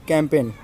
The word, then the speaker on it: campaign: यह है कॉम्पेन। कॉम्पेन नहीं, कैंपेन।